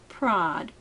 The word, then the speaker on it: Prader: Prader Willie syndrome, and it is pronounced prod like you're proddding with a pitchfork.